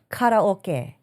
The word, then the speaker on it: karaoke: And on the note of karaoke or karaoke as it is properly pronounced in the Japanese um the Japanese in Nihongo.